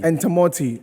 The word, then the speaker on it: Entamoty: The other name, how do you pronounce it? Entamoty. Entamoty.